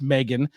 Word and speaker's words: M3GAN: it again but uh Meg which is with the three uh pronounced Megan is a 2022 American